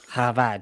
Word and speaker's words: Chabad: Habad. Oh, Kabad. Havad spelled with a C. Chabad.